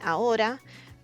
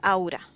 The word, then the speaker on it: ahora: And so it that's why instead of saying "ahora" a lot of people says "aura". And yes, we also have the word "aura" which is "ora". But in you know, due to the context you know that they're meaning "ahora" which is now.